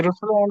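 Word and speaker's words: Russland: होगा रसलैंड या रूसलैंड रूसलैंड उ बोलना उ यू है उ रूस अब अगर हम इन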